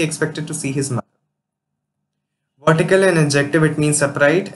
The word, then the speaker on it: vertical: Vertical, an adjective, it means upright, and its pronunciation is stressed on verse syllable, and here's the usage.